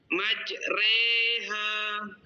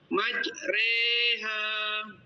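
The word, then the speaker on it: مجريها: imalah di mana bunyi fathah dimiringkan jadi kasrah ya itu pada Surah hud ayat ke-41 yaitu majreha majreha Terima kasih Pak silakan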